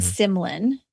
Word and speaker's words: Symlin: So it's Amylin, that's how you say it, and Symlin.